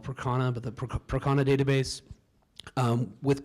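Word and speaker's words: Percona: So we're using I pronounced it Persona, some people call it Procana, but the Procana database with Kubernetes and an object store for all that backups and snapshotting.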